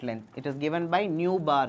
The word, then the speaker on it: nu bar: It is given by nu bar. Idu eppadi pronounce pananum? Nu bar. Mu kadayadu.